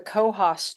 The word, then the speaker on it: Coos: we went up to the cohos trail which is spelled Coos and it's in Northern